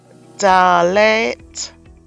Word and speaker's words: Dalet: Dalet is the fifth letter. It is pronounced as D, as in dog.